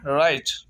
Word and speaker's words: right: 11वां rule है, अगर किसी लफ्ज में GH आता है तो GH हमेशा साइलेंट रहेगा। जैसे RIGHT, राइट।